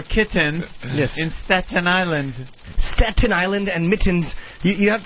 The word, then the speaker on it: Staten Island: Island Staten Island okay teach me how to say it Jimmy Staten Island Staten Island Staten Island Staten Island yeah stattin Island Staten yeah my tongue goes the other way St St it's it's